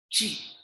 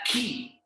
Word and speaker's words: 七: Ji. Ji. Ji. Not key. We pronounce it as ji.